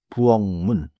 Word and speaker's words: 부엌 문: But in natural speech sound like 부엉문.